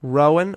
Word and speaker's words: Rowan: you're listening to the music that matters on row and radio is that okay how do you say what yeah whenever the radio Rowan ro w a n Rowan radio yeah and